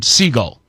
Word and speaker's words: Sigl: He pronounces his name just like the bird, Sigl.